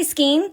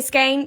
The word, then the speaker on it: skein: I say Skein, so it rhymes with Queen. If you say Skein, maybe this isn't the notebook for you.